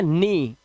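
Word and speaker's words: knee: इसी तरह से घुटना जो होता है हमारा, इसे हम पढ़ते हैं नी।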